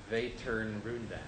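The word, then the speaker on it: Vätternrundan: It was a race in Sweden, and it's pronounced Vaternrundan.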